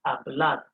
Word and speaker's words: hablar: you almost hear like i'm not pronouncing that h because h in spanish is silent h in spanish island so it's going to be pronounced a blood now what's the first